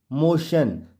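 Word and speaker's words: motion: ए स्टेशन एम ओ टी आई ओ एन मोशन तो यहां आपने देखा जैसा कि रोल में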